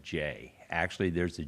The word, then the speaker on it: Gex: Everybody's seen that GEX, and you need to realize that's an old Kentucky name with a unique pronunciation of J.